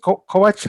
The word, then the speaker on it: Kovac: Who is Kovac? Is it Kovac? How do you pronounce it? Yeah, that's right. You're good with reading our Kovac.